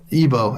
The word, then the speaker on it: Ibo: Ibo Brewer. Ebo, actually, it's Ebo. I just say Ibo because that's how you spell it.